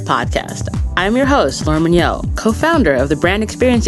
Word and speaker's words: Mignott: I thought it was Mignott. I didn't know it was Mignot. The correct pronunciation is Mignot.